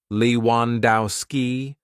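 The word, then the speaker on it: Lewandowski: Leewandowski, four syllables.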